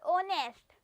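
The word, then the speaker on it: honest: जो एच और दोनों में जो एच है वो साइलेंट है। जब इसकी प्रोनाउंसिएशन होगी तो क्या आएगा? ऑनर और ऑनेस्ट।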